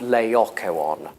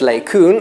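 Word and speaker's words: Laocoön: how to pronounce that but standard British English would have lay Akko on mmm Majorca one lay aqua on laocoon I've never heard lei kun and it's not in dictionaries it's not in dictionaries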